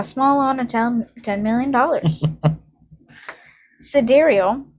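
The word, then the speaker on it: Sideræl: Sidereal, pronounced sidereal. Sigh. Right. According to the musician Grimes, in a Vanity Fair interview, this is an Elven phonetic spelling of the word sidereal. Sidereal.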